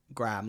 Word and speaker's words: Graham: me oh no to to British people it sounds like you're saying gram like g r m like 100 grams okay like gramar gramam